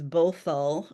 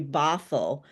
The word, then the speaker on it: Bothell: And I love that you said that my school's name as Bothell. It sounds very exotic. It's actually Bothell, but I love Bothell.